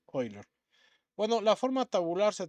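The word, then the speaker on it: Euler: último se utilizan de Ben oiler o Ben eer y la pronunciación correcta creo que es oiler bueno la forma tabular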